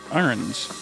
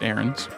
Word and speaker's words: Ahrens: channel here yeah absolutely Carter arens I believe they pronounce it erens he SP sponsored by